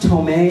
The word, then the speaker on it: Tomei: sorry i always forget is it pronounced tomei or tomai tome thank you i have a huge